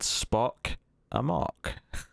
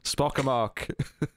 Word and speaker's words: Spock Amok: It is called Spock Amok. I feel like I'm pronouncing that weird, but I feel like it should rhyme, because it's Spock Amok. But anyway, Spock Amok.